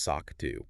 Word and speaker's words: SOC2: That's SOC2 pronounced SOCK 2, right?